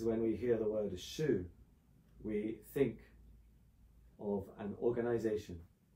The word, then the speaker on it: Shu: bit deeper than that that character which we pronounce as Shu means like a example of a behavior a